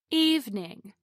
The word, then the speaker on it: evening: Evening is pronounced with two syllables instead of three. Evening, not evening.